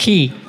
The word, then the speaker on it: Ke: K. Hui Quan, I pronounced that. Key.